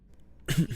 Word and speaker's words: EDI: The last Normandy did just fine without an AI reminding me the Why are you named Edie? E is the phonetic pronunciation of EDI.